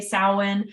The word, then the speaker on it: Samhain: with my like speech or why I say sowin um but but it is solid so just so you know and you can pronounce it um correct but no matter how